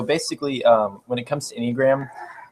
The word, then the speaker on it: Enneagram: So I kind of want to hear from you a little bit more of the Enneagram. Is that how you say it? Yeah. The Enneagram.